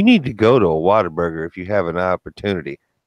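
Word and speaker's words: Whataburger: it's like a burger that's how it's spelled right that is not how you say it that's how they do the commercials though they go what a burger and there's actually a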